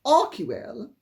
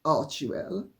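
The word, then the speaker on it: Archewell: Because as our bell-bottom says, and this I agree with, unfortunately, I would think that Arcwell, or as they mispronounce it, Archwell, they being Harry and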